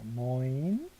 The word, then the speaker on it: neun: 그 다음 9는 자, 여기 OE 발음. 요 두 개 올 때는 OE 발음 해야 되니까 neun입니다. neun.